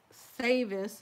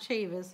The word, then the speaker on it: Savis: Driggers, Goins, Harmon, Russell, Sammons, spelled S-A-M-M-O-N-S, Scott, Savis, it's a Savis, it's not Chavis, it's a Savis with an S.